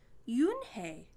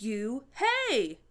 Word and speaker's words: Unhei: you and hey corrected it's spelled u-n-h-e-i it's pronounced yoon hey oh it's you hey the boy said like